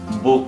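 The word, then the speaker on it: Buch: সে হাটি vowel উর পরে আছে তাহলে এর উচ্চারণ হবে বুক এই একই সে হার উচ্চারণ হবে সেটা কিভাবে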